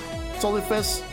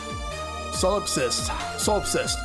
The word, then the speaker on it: solipsist: So I take it the Solifist problem got solved? I don't know how come I can't pronounce that. Solipsist.